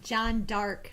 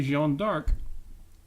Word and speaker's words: Jeanne d'Arc: You keep saying it like John Dark, like so very sinister and dark. Okay, I have to point out that is the closer to French pronunciation, and where I first